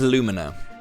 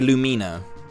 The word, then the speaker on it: Lumina: heyo looking for Lumina I've always said it as Lumina right as in like illumination but people always say Lumina because I guess for